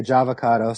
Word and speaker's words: Jahvocado: It's not. Although now it could be Java, because I'm a coffee drinker, but it's not Java. It's Jah as in Rastafari, as in J-A-H.